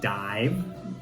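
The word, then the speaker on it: DIIV: So this is the third LP from this band, and they're called Dive, but it's spelled D-I-I-V.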